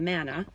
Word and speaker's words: manna: of them the man the manna the mint the Mun the manna that's how it's pronounced in English comes Dan would just